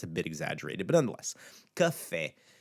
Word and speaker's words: café: And in all of these, we have a multi-syllable word in café, two letters, two syllables, I should say. It's the second syllable that's the accentuated one.